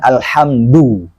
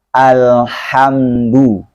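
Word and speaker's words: الحمد: Nah, di sini ada dal. Dalnya pengucapan Al-Quran itu lembut. Tidak kasar, juga tidak dibaca tebal. Bukan alhamdu. Ya. Jadi alhamdu.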